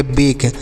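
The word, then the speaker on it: bake: ए के ई तो बी से ब ई ए की मात्रा और के ई को पढ़ेंगे तो इसे पढ़ेंगे बेक लास्ट में ई है तो इसे नहीं पढ़ेंगे अब बे का मतलब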